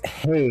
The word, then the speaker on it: Haigh: Well, Haigh, you are very adamant in making sure that I pronounce that the long A.